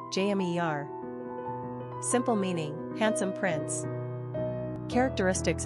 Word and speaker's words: Jamir: Pronunciation, jә-MEER.